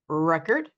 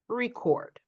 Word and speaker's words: record: So they are a noun if we stress the first syllable, but they turn into a verb if we stress the second syllable.